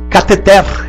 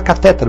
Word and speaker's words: cateter: Cateter. Nossa, no hospital todo mundo fala catéter. Pois é, cateter.